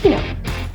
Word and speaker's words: Pinot: The T is silent in Pinot, so it's Pinot.